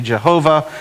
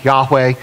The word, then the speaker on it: Yahweh: the name of God where some say Jehovah and that really comes from so touching and corruptions through there that it's probably more Yahweh or something similar to that and so that's why